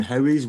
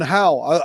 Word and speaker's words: Howe: Now, I watched a lot of Linda Moulton Howie's work. I don't know if you're aware of Linda Moulton Howie. Linda Moulton Howe. That's how I always pronounced it.